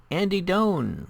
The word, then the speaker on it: Doan: Okay, next we have Andy Doan, rhymes with zone.